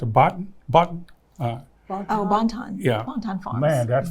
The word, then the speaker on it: Bonton: I've been to the, how you pronounce it, Bonton? Bonton.